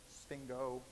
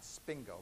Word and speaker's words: sphingo: known as the sphingolipids notice sphingo is spelled s-p-h-i-n-g-o sphingo lipid not spingo but sphingo right single lipids derive